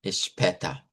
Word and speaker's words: später: redonda en realidad, y la A con la diéresis es la E abierta, später, bis später, bis später.